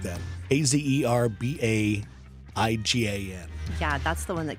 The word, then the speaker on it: Azerbaijan: It's Azerbaijan or something like that. Azerbaidjan.